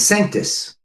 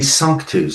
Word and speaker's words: Sanctus: And so he brought it back to the band and he said, "I think we should name the band Sanctus." Not knowing that it should be sunkus.